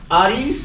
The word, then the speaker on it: Harris: Once again, my name is Ais if you want to say the Italian way. I'm Italian, but I don't force people to say AI because in Italian the H is silent. So Harris is fine.